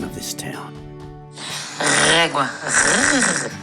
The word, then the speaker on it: Régua: I'm going to let Barbara, our guide, pronounce the name of this town. Régua. Régua.